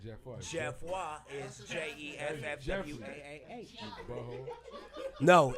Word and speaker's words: Geoffroy: Jeff Watt is JEFFWAAH.